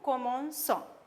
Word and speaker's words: commençons: Now, if we write C like this, for nous, we can't pronounce this properly. It becomes nous, comment, com when we write C. So, in case they have changed that and they have put this sedil to make the pronunciation nice. So, it becomes nous commençons.